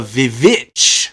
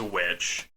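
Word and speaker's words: The VVitch: the movie itself is titled the vivit with two v's instead of a w so the pronounce it as witch I know but this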